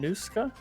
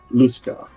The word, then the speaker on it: Lusca: Claude von Nuska? Luska. Von Luska. Above table, it's spelled Lusca.